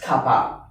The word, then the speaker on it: kappa: So from this part, just beware that this is not a K. This is from a Greek letter, and you pronounce it as kappa. But don't confuse this kappa with car park.